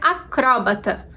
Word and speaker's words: acrobata: ela levaria assento então sem acento a gente vai falar acrobata e com acento a gente é obrigado a tornar o CRO a sílaba tônica então a gente falaria acrobata do jeito como apareceu na tela para vocês a palavra é paroxítona